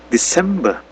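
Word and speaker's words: December: Jadi coba dengarkan, perhatikan bagaimana cara jedahnya itu di mana kayak Desember. Nah, itu pelafalannya memang seperti itu. Desember. Jadi bukan Desember kan penekanan hurufnya itu harus di awal Desember.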